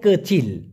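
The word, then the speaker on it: kecil: সঠিকটা তো শিখতে হবে মূলত কিচি হবে না হবে কাচিল কাচিল কাচিল মানে ছোট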